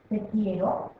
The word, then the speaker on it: quiero: con ejemplo te quiero te quiero observa Cómo lleva la u no la leemos y aquí sí dice